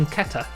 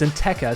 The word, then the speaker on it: Nteka: instead on an attacker i've been calling him in ketter but it's in tekker so this guy uh